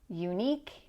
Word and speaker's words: unique: And next we have technique, unique, antique. These sound like eek.